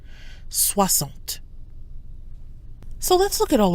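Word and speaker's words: soixante: and 60s wasn't swamped notice that the X in 60 is pronounced like an S soir salt so let's look at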